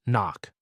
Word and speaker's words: NOC: Non-official cover, NOC, pronounced knock.